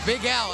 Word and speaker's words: Big Al: Big Al.